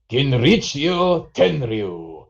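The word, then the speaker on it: Genichiro Tenryu: Kinrichio Tenryu.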